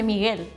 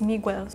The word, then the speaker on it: Miguel: Miguel maybe we'll try in Spain we say Miguel okay so I don't know we say Miguel but some people say no my name is Migel it's my brother's name